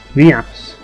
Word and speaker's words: Vias: Vias. That rhymes with Cius, or does it? It's similar to Cius, but it's Vias. But yeah, it's funny that Marvel's just left the party so she couldn't get her revenge.